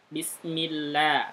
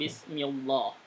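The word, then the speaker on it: بسم الله: Ini dibacanya tarkik. Bunyinya Bismillah. Seperti itu contohnya. Bismillah. Bunyinya begitu. Bukan Bismillah.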